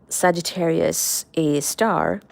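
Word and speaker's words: Sagittarius A*: And lo and behold, that is how we we discovered Sagittarius a star, which is literally that's how it's pronounced, Sagittarius, a star.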